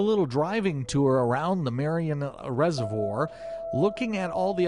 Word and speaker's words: Marion: Engineers campground on a beautiful little Reservoir and Merriam County Kansas is that right Marion Marion County Kansas yes he can never pronounce anything right what I should do is